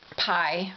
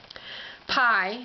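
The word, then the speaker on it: Pei: called the letter, well, it's P-E-I, and I'm going to pronounce it pi for lack of a better understanding.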